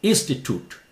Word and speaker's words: institute: read quickly about this British Institute cute not cute make Institute toot not children give yourself